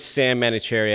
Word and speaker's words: Sahm Manouchehri: Market even back then my name is Sam manicherry I have unnecessary H's in both my names yes you do so